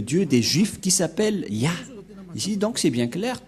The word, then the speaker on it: Yah: du grand-père Moché est très claire ça se prononce ya et comment on va aussi prononcer les deux